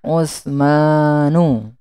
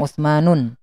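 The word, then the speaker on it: عثمانُ: Contohnya Usmanu, ya, ada alif dan nunnya di akhir. Jadi tidak boleh bacanya Usmanun. Salmanu juga ada alif dan nun.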